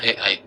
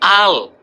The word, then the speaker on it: Al: Tuh, Mana AI? saya edit AI Ahmad. Apa itu? Tunggu dulu. Nah, Itu bukan AI bang, ini Al, bukan AI, barangan.